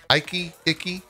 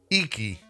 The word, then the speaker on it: Iki: Icky? It's definitely not Icky. How do you pronounce this? Iki.